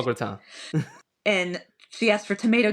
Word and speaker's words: gratin: They pronounce it a gratine. And I'm like, what? It's a gratan.